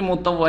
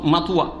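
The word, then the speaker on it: مطوع: অভদ্র হয়ে গেলি নাকি মোতাওয়া হয়ে গেলি সৌদি আরবে এসে মুতাওয়া শব্দ শিখেছে তাও এক অসৎ বাঙালি মুতা শুদ্ধ উচ্চারণ করতে মাতুয়া কি বলে মুতুয়া আউজুবিল্লাহ জাহেল এটা উচ্চারণ করতে পারে না তারপরেও ও দেশে হুজুর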